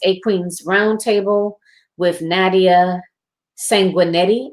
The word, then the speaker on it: Sanguinetti: Queens roundtable with Nadia sanguinetti I believe is how she pronounced her name Sanguinetti and she is phenomenal